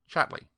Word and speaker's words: Chatterley: She pronounced the name as all people did, Chatley.